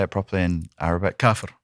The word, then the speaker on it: kafir: Kafir. Kafir.